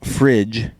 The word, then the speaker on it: fridge: Even though refrigerator has no D in fridge, picking up the D will help the pronunciation without it. You'd pronounce frig like fig. So, fridge just looks and sounds more right in English.